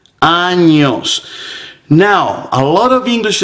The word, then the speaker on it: años: So it is very important, it is imperative that you get the ñ pronunciation correct.